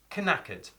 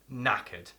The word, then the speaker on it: knackered: knackered means tired now it's a silent k like in the word knowledge we don't say knowledge and we don't say knackered we say knackered i'm knackered and there